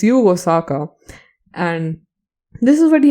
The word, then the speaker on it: Yugo Sako: And this is what Yugo Sako had to Yugo Saka. Oh my god, I've been saying his name wrong for all the entire time. Oh god. It's Yugo Saka.